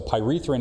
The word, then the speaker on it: pyrethrin: I've recently seen a substance called, and I'm probably mispronouncing this, pyrethrin?